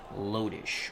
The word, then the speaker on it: Lodish: Sire 0329 says Lodish was the right pronunciation. Thank you very much. Lodish.